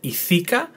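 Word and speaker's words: ιθάκα: so the pronunciation and the emphasis is on the last syllable, so it's ithika. Not ithika, not ithika, but ithika.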